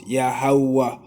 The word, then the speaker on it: Yahweh: Tetragrammaton meaning Yaheh, Vaheh, which we would pronounce as Yahweh, Yahweh.